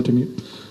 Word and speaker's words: Wintermute: Good pronunciation, that's correct. It's Wintermute.